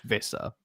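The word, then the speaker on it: Wissa: It is Vissa, by the way. ignore their corrections. It's Viss. It is Vissa Congo. It's Vissa. It's PR. It's got a W, but it's pronounced as a V.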